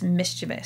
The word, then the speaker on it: mischievous: feel like an idiot it's mischievous spelled e v o u m-i-s-c-h-i-e-v-o-u-s there's no i o u s yeah but i